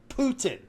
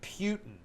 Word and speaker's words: Putin: For example, it's Vladimir Putin. Okay. It's Kiev. And yet I am seeing. See, I'm already going to argue with you. To say it's Kiev. And I'm hearing like Mark Levin is pronouncing it Putin.